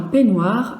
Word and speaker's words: peignoir: Alors, peignoir, combien de syllabes? 2 syllabes. La première, c'est P. La deuxième, c'est noir. Alors, P. Le P de peignoir, ça va être le même que le P de peigne.